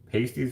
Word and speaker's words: pasties: Pasties were used by miners. Pronounced like past, not paste.